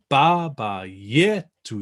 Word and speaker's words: Baba Yetu: But for our pronunciation here, we're always aiming for lovely open Italian vowels. So good open a, e, u along the way. And we're always going to try and put the weight on the penultimate syllable. So where there's only 2 syllables, then it's always going to be the first.